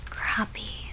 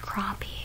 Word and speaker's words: crappie: i was so excited crappie crappy i know they're pronounced crappie but i i have